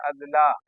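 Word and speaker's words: اضلاع: तलफुस सही नहीं है जिला का ये जमा है जिसका उच्चारण करेंगे अदला नोट इला अदला बिहार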